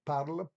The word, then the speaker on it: parle: Negatively, it would be je ne parle pas français. Note that the E or the E at the end of parle is not pronounced.